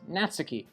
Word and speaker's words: Natsuki: The last 2 episodes I've been butchering her name, pronouncing it Monica. Also, Natsuki is Natsuki.